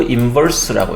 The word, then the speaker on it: inverse: -1승을 집어넣어 가지고 F inverse라고 할 거예요 역함수라고 있습니다 F 인버스 F 역함수 f-1이라고 읽지는 않습니다 inverse inverse 또는 이렇게 읽으면 되겠습니다 inverse라고인 vrse 이렇게 d가